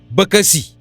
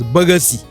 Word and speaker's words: bakasi: We have another example there, bakasi. Bakasi, which means baboon or gogombri. And sometimes some people do pronounce it as bagasi. They pronounce it as bagasi.